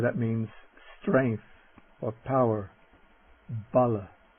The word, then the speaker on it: bala: Bala Bala.